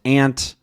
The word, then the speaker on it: aunt: of these words, but there are a few notable ones, like mantra, mantra, either, either, then neither, neither, aunt, aunt. All of these are totally acceptable pronunciations in pretty much any part of the US.